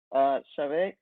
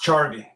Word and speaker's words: Charvy: But Chavez, is that how you pronounce it? It's Charvy.